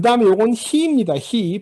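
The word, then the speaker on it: היא: 히 발음이 히겠죠.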